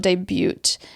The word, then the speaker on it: debut: gdo making his NHL debut after being drafted in 2011 in the fourth round you're one of the only people I know that pronounces the T in debut it's okay you can